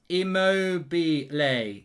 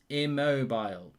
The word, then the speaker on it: Immobile: have the euros mark you pronounce it emobie lay not immobile immobility i'm terrible on names